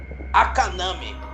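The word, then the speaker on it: あかなめ: a quarta criatura não professor de japonês falou que se pronuncia akaname mas quem vai falar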